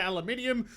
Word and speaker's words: aluminium: Like, you guys say aluminum, we say aluminium. You drop the syllable, but then in military, you say military, you added the syllable.